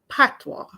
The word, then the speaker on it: Patois: wall but anyway um p-a-t-o-i-s is pronounced Patwa okay not all Jamaicans